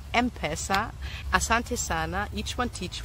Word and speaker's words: M-Pesa: Thanks for clarifying that it is pronounced M-Pesa.